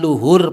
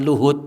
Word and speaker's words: luhur: Keinginan luhur pakai r, Bu, ya, bukan pakai t. Sebab kalau pakai T bacanya beda kan. Iya. Jadi bukan dan didorong oleh keinginan luhud, bukan keinginan luhur gitu.